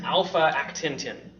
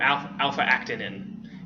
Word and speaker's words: alpha-actinin: And that is alpha-actintin, or alpha-actinin is how you would actually pronounce it.